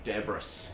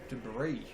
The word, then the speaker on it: debris: matter onto the court deis some de debris deis deis that's not the way to pronounce debris I'm this